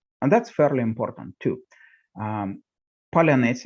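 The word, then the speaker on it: паляниця: Palyanice is one of them, the traditional round sourdough bread, which the Ukrainian media started recommended early on as a pronunciation test for suspected Russian infiltration, because Russians, unless they grew up in Ukraine, cannot pronounce a soft ts.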